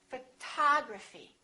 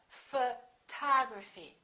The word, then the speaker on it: photography: second syllable we say photography this o also is reduced and also becomes this symbol uh photography photography repeat after me